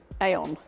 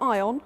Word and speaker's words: Aion: on how you pronounce Aion. But, for the record, it's Aion, not Ion, not Aion. Aion.